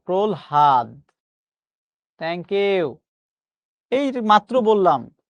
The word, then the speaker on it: প্রহ্লাদ: প্রহ্লাদ শব্দের সঠিক উচ্চারণ হচ্ছে এটা। প্রহাদ।